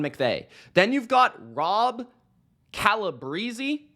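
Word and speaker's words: Calabrese: then you've got Rob calib Breezy I believe is how you properly pronounce his Italian last name shout out uh quarterback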